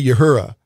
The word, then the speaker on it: Uhura: I always say Uhura, but how what's the correct way to pronounce her character's name?